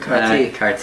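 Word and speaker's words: כרתי: How would people in Israel pronounce this word? Karti. Karti.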